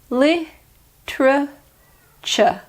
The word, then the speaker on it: literature: seven is literature literature in British pronunciation you ignore the first e li true cha literature and although you